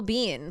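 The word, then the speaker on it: Biehn: And then Michael Bean plays Kyle Reese. Yes, I looked it up. His last name is pronounced Bean.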